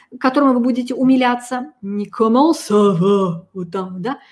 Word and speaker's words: comment ça va: Ко, обязательно о. Русскоязычные люди вместо о произносят все, что угодно, но не о. Здесь это очень важно. Следующий звук после ко, а носовое. Коман. Это а. Коман. Четкое о, четкое а.